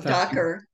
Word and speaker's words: Dacher: give from someone whose name I will not pronounce correctly, Dacher Keltner, who's the Oh, Docker, Docker Keltner.